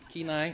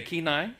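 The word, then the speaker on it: Kenai: and Alaska did I say it right ke keenai okay keenai right she's corrected me already twice tonight um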